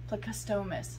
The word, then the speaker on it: plecostomus: say it on google translate no on google pronunciate she said plecostomus plecostomus if you google like how to pronounce